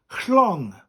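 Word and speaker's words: llong: Now, a ship in Welsh is chlong. Chlong. It's spelt like the word long in English, but with a double L.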